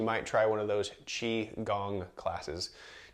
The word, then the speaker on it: qigong: try one of those chi gong classes cheese spelled differently there this is chi chi gong is spelled q-i-g-o-n-g which is a little bit different all right one of